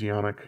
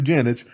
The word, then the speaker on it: Janich: from michael janich man i always want to pronounce that guy's last name is yannick but it's apparently janice oh well um but